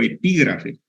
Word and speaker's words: epígrafe: Pero para esto no entonces escriban acápite o epígrafe acapite o epígrafe son dos palabras esdrújulas acá y te lleva acento en la segunda a y epígrafe tiene lleva